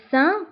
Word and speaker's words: Saint: بالنسبة le Saint نكتبوها بالت في آخر الكلمة ولكن لا ننطقها.